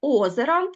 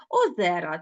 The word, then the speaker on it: озера: українській мові багатенько наприклад озера кого чого немає і озера - це множи пісні це немає кого чого